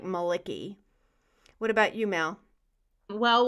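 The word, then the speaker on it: Malaki: variation of Malachi but it's spelled mal I see KY so it sounds like Maliki what about you Mel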